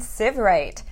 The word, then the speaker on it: Sievwright: me I have sieve right it rhymes with give right remember for all those